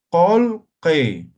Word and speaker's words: kulki: Entonces la pronunciación va a ser colque.